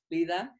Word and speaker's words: Leda: so here we are two greek ladies welcome lita thank you so much for having me so nice to hear my name pronounced properly as well well i was like